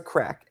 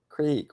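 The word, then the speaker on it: craic: It's crack. That's how you spell it in Irish, but you can't. It's not crack. Creek. What's the creek? No, it's crack.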